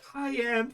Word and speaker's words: Cayenne: Cayenne pronounced like the pepper.